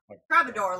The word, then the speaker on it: troubadour: Troubadour, like trouble.